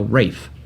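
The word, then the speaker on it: Ralph: about the menu starring Ray fines Anya Taylor Joy Nicholas Holt and a a plethora of other people it's about a young minds no Rafe yeah the BR the British pronunciation yes these man this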